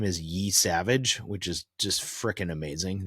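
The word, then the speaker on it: Yesavage: Yeah, his name is Trey Yavage.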